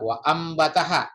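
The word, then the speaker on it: وأنبتها: Berikutnya wa anbataha ya, kalau biasa yang membaca iklab ya, ini ada mim kecil di atasnya. Jadi nun mati bertemu ba, jadi bacanya iklab wa ambataha ya.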